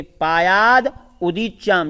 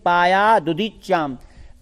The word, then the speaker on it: पायादुदीच्याम: अब यहाँ पर दुदीच्याम एक साथ बोलेंगे, पायाद उदीच्याम, या तो ऐसे बोलेंगे पायाद उदीच्याम या बोलेंगे पायादुदीच्याम। पायादुदीच्याम दिशे वामदेवः वेदाभयष्टांकुशपाशटंक।